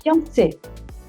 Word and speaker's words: fiancé: E eu sempre imaginei que um é masculino e outro é feminino, e sendo que a pronúncia é igual para os dois. Como que é isso? En français, fiancé.